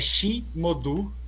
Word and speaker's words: Chi Modu: Eu não sei a pronúncia, mas é Chi Modu, que se escreve CHI Modu, M-O-D-U.